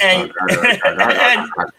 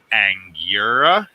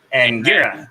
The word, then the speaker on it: Angura: Because all I heard was Anger and Jealous. All right, Jedi. Allow me to pronounce this for you. Angura. Angura. Jealous.